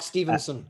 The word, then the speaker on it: Stevenson: Well, the first thing to do is say my name is Mark Stevenson, so it's not Stevens. Mark Stevenson.